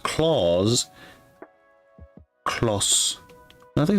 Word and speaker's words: Claus: It is pronounced claus. Claus a claw. A claws. Not close.